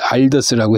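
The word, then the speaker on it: Aldus: 그래서 알더스라고 해주는 게 좋아. 알더스 만누, 이거 뒤에가 있으면 만누셔스라고.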